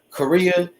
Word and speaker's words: Coria: I think it's Korea. That's how you say it.